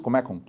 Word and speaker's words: Comecon: Um plano de ajuda econômica, principalmente no leste europeu, que a gente vai chamar de Comecon. Né? Ou, né, na entonação russa, Comecon, porque a sílaba tônica no meio.